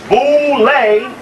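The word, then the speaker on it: Boulé: to go to the boulevard known as bouley pronounced known as the boule the group is here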